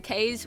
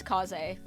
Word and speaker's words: Kaz: So many people call him K's when it is Kaz.